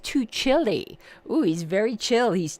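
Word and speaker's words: Tuccille: and I said to Chely but here it says it's pronounced too chilly oh he's very chill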